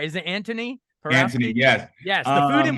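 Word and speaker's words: Antoni: Anthony, yes.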